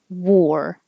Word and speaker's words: war: 5, war. Whether it's spelled this way with an A or with an OR, they both sound like OR, war.